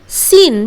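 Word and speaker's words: scene: सीन बिल्कुल इस तरह सीन सीन मतलब कोई भी नजर ओके व्यू सीन कितना सुंदर सीन है बोलते हैं ना तो वो सीन हम लोग एस सीन नहीं बोलते हैं हम लोग क्या बोलते हैं सन नेक्स्ट इस तरह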